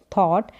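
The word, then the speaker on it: thought: थॉट क्या बोलेंगे थॉट टी एच का उच्चारण थ और ओ यू का अ करके यहां पर जी और एच जब भी साल आपको मिलेगा तो व साइलेंट रहेगा और टी का उच्चारण ट थॉट टी एच ओ यू जी एच टी थॉट विचार फिर है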